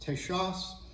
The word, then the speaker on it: Texas: it so Texas was originally pronounced tesas and uh you even see spellings of Texas sometimes where people will write it